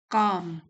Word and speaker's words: calm: व्हाई काम people? काम L silent है।